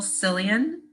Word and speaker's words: Sillion: This is Michael Sillion. How do I pronounce that, Michael?